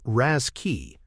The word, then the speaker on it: RASCI: RASCI, pronounced Raschi, adds an S for support.